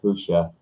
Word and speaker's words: Pusa: Yep, I love Pusa, or Pusha, I guess, is the proper pronunciation. Just spelt Pusa though, so you want to say Pusa.